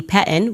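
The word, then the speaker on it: PETN: Anyway, as far as the Pettin, we pronounce it Pettin.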